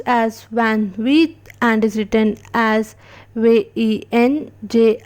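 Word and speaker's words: vingt-huit: 28, which is pronounced as Van Wheat and is written as VENJ ashte ASHUET.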